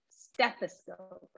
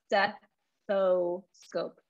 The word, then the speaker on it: stethoscope: this as stephi scope stethoscope not steppo scope and be careful that we do pronounce the th st stethoscope okay awesome